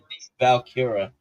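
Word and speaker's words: Vaquer: step for some reason valkira I think it's how you pronounce her last name it's V A qu e r i don't I don't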